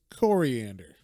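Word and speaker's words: Koriand'r: Yeah, but also then I found out her name is Coriander. Kor. Yeah, so it's like not spelled the same as the spice you might know as cilantro or the lettuce or whatever the fuck it is. But yeah, like sounds like coriander, which is ridiculous that her name is Coriander.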